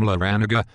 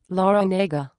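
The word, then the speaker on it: Larranaga: Jim Laranaga? Actually, it's pronounced Laranega, but most people just call him Coach L.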